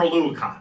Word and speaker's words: Oluokun: That is 2nd in the NFL for Oluokun. That's how you say his last name.